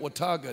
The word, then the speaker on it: Watauga: Under the tent in, how do you pronounce that town? I just figured out Watauga.